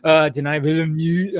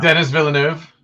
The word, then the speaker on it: Denis Villeneuve: Denis Villeneuve. I always say, like, Denis Villeneuve. Yeah, I know. I'm like, Dennis?